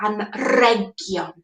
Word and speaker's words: anrhegion: So presents are anrhegion. It's got that R sound in the middle.